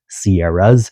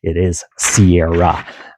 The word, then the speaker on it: Sierra: It's already plural without the s. So, it's not Sierra's. It is Sierra.